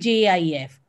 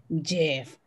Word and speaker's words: GIF: So on your screen, you can see you have GIF and JIF. Oops, am I pronouncing it wrong too? What is this? GIF or GIF or JIF? This is GIF.